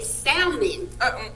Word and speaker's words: salmon: I say salmon. Girl. I'm so foreign. Do not pronounce that. Do not pronounce that L. Salmon. It's S-A-L. Sal. Salmon. It's a silent Salmon. L. The L is silent, honey.